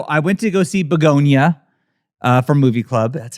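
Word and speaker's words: Bugonia: so I went to go see Begonia from Movie Club, That's how you say it.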